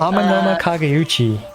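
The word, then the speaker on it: Amenoma Kageuchi: Amanoma Kageuchi.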